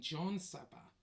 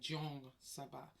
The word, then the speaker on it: Jongsaba: And when he pronounced my name, it sounded like he was saying John Saba, but he wasn't. He was actually saying Jong Saba. So it should be spelled Jongsaba, Jong Saba.